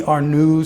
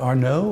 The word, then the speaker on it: Ernaux: those strange things, you know, that writer Annie Ernaux said uh Ernaux, like my friend sucks. What's her pronounce her last name?